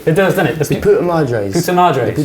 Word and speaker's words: Puta Madres: The Puta Madres. Puta Madres. The Puta Madres.